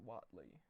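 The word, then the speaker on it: Whateley: weight the weight leaves I've also heard it pronounced Watley I think I'll say Whatley um so it's old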